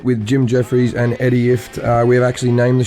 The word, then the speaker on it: Ifft: Jim Jeffries and Eddie Ifft. And we've decided that we've talked Eddie into making his name second because it rhymes with shit.